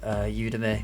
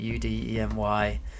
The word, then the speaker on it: Udemy: I've gone on the website Udemy, I think that's how you pronounce it, Udemy, and I grabbed some courses there when they were discounted.